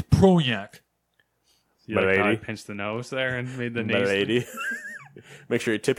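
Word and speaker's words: Projekt: if we that's not it's not project okay it's pro yak lady make sure you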